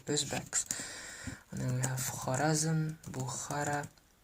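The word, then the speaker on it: Xorazm: The X in the Uzbek language is pronounced as a kh, just like how it would be pronounced, just like how it's pronounced in the Cyrillic alphabet as well.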